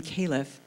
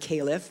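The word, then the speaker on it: caliph: case um my uh both of those names are pronounced the same as at least one pronunciation of the word caleff which again as you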